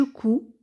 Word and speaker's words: couds: et on obtient je couds bien sûr on ne prononce pas des S donc on dit je